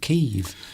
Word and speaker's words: Kyiv: So hence we're not calling it Kiev anymore, we're calling it Kyiv.